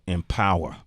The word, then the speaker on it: Empawa: You doing this distribution network called Empower. Yeah. And it's spelled EMPAWA Africa.